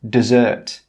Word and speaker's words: dessert: With this word, the stress is on the second syllable and the first vowel sound is more of an sound.